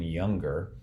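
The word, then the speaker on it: Junger: his name is sebastian younger that last name is spelled j-u-n-g-e-r and he in this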